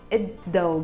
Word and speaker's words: الضوء: We will write it الضوء, but we will pronounce it الضوء because it starts with ضاد, which is a sun letter.